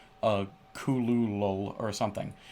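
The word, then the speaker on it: Cthulhu: is more like a kulul or something it's it it sounds like you're not really saying a word or maybe that like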